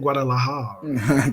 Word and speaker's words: Guadalajara: Man, That's how you say it, Guadalajara. Guadalajara.